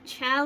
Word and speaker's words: chao: But again, chow is, pronounced different than chaos. Chaos is a totally different word.